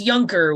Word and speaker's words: Junker: it's Is it a silent J? it's Junker with Okay. a Y. I'm pretty certain.